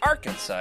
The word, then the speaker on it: Arkansas: to move to Arkansas, you always had to say it like that. Arkansas. You really got to go up above the top. That's how you know you're local.